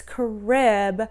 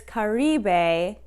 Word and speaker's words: Caribe: And then the blue, I was saying it's Carib, but it's Caribe, which is probably still saying it really wrong, but thank you so much.